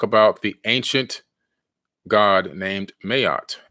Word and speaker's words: Ma'at: the ancient god named Mayotte m-a-a-t mayat is actually the pronunciation she was the wife